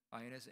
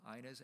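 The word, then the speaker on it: Inez: 그분의 이름은 아이네스 앤드루스라고 부릅니다. 한국 사람은 이네스 앤드루스라고 읽고 아이네스 앤드루스라고 하는 게 all time gospel singer.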